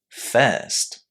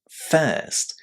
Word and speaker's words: first: First. First. How are the letters I pronounced here? Well, guess what? It's the long air sound again.